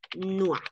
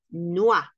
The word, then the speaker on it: noir: Escuchen, noir, noir, noir. No pronunciamos la E, no pronunciamos la S. ¿Por qué? Porque la E al final cuando no está tildada es muda.